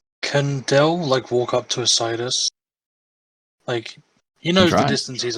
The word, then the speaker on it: Isaidus: I just say Isaidus. Isaidus. Yes. Yeah, because you call him Sai, so Isai.